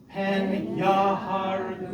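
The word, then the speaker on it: פן יהרגוני: Pen yaharguni. Good. There's the accent on the second to last syllable, and there's a secondary accent as evidenced by this meteg on the ya. So it's pen yaharguni, right?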